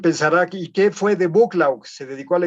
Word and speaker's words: Buccleuch: tal duque de buccleugh que se escribe difícil pero así se pronuncia se escribe algo así como buccleuch con 23 no los ven ósea bucklaw el duque de buccleugh